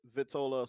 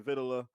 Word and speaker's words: vitola: vitola means i use i use those pronunciations uh interchangeably you know sometimes i'll say vittola sometimes i say vitila but uh i like